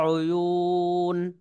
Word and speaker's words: عيون: এখানে কিন্তু টান দেওয়া যাবে না, ওয়ার উপরে হরকত আছে, এক জবর আছে।